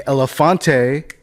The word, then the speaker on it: Elephante: Explain, why is it the French pronunciation? Or is it even the French pronunciation? I'm not even sure. Not French. I guess it would be Spanish, but it's like fake. It's nonsense pronunciation, really.